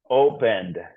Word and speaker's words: opened: it has an N it has an N it doesn't follow the rules of the other two opened opened where do we put it open opened yeah opened the opened the D the D yeah the D category